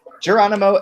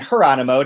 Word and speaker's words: Jeronimo: And we are joined this week by a special guest who goes by both Jeronimo and Jeronimo, depending on if you pronounce his name in Spanish or in Portuguese, Pizarro, and he is